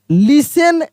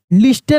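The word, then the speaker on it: listen: एन the children लिसन यानी T silent रहता है। ठीक है ना? लिसन एल आई एस टी ई एन लिखते हैं हम लोग। लेकिन लिस्टेन नहीं पढ़ेंगे।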